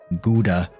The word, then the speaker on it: Gouda: multiple pronunciations on this some said I think it was mainly Germans and I think some English pronounce it gowders some say gouda always gonna go for the proper pronunciation of Netherlands I kind of like